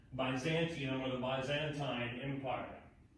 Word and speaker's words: Byzantine: Constantinople remains the capital of an Eastern Roman Empire that we will come to call Byzantium, or the Byzantine Empire. Sometimes pronounced Byzantine Empire, which will last for another 1,000 years.